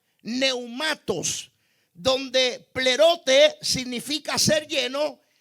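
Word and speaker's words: πνεύματος: Ahora, por otro lado, la palabra llenos del Espíritu se traduce como pleretes o plerotes, o se pronuncia neumatos, donde plerote significa ser lleno y neumato se refiere al Espíritu.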